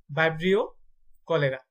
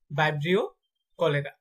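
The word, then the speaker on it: Vibrio cholerae: ভিডিওটা কয়েকবার দেখবেন, তাহলে উচ্চারণগুলো ঠিক হয়ে যাবে ইনশাল্লাহ। কলেরার জীবাণু নাম হচ্ছে ভাইব্রিও কলেরা, ভাইব্রিও কলেরা।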